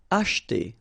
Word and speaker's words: acheter: Acheter. Same thing here, we don't insist on this so acheter, acheter.